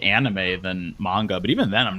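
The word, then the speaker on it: Mauga: kind of does cuz it's like the Samoan pronunciation which is more like manga as opposed to malga oh God no what's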